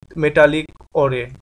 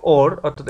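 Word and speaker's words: ore: A volcano race with মেটালিক ওরে, এখানে মেটালিক ওরি বলতে এটা মেটালিক ওর অর্থাৎ এটার উচ্চারণটা সঠিক হবে ওর।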